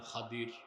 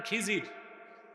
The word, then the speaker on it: খাদির: এক বান্দা তার নাম খাদির খাদির তো বুঝেন নাই যাকে আপনারা বলেন খিজির উনার নামটা কি আমরা বলি এটা ভুল উচ্চারণ শুদ্ধ উচ্চারণ কি তো মুসা নবী আল্লাহর